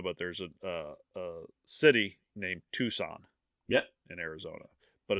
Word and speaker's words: Tucson: know about Arizona but there's a city named Tucson yeah in Arizona but it's pronounced it it's but it's pronounced Tucson but it's spelled tuxin took c-u-c-s-o-n and she said toxin many times I felt horrible for I I